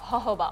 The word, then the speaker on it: jojoba: And a bit of jojoba oil. That's how you pronounce it.